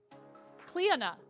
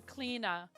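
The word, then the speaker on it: Clíodhna: Cleona. Cliodhna, with an accent over the I. Cleona. The name is often simplified to Cleena, according to various sources.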